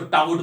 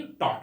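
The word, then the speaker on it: taut: इस तरह टॉट जो है ना, टॉट जिसको हम लोग बोलते हैं, टाउट, लोग उसको टाउट बोलते हैं, मैक्सिमम लोग टाउट टाउट करते हैं, लेकिन टाउट नहीं, टॉट होता है वो, ठीक है ना।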